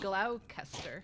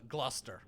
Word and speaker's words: Gloucester: good number three g-l-o-u-c-e-s-d-e-r looks like glaucuster claus faster no closest way looking at me like that i don't know i was trying to think of a weird way to pronounce it but i can't come up with anything i just see like gloucestershire yeah something like that which is uh gloucester g-l-o-s-s-t-e-r according to this person they're right